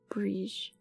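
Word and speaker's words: Bríd: But the final D is like the D in Bridget. It's almost a J sound, so Briege. Briege?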